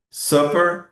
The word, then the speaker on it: supper: E ainda a diferença entre supper e super, ok?